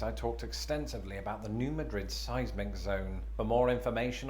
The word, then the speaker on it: New Madrid: words like many people i've been pronouncing it just like the spanish capital madrid but for the locals it's not just a pronunciation shift but one of emphasis they emphasize the first syllable as in new madrid and this is an